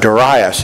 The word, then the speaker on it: Darius: the medal Persian Empire Darius almost said Darius you know don't watch VeggieTales okay don't watch VeggieTales but Darius is how his name pronounced and then of course